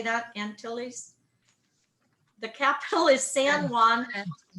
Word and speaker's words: Antilles: And it's the smallest and most eastern island of the greater, and how do you say that, Antilles? The capital is San Juan. What is it? Antilles.